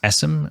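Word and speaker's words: Essam: Just search for Essim. My last name is spelled E S S A M and just connect.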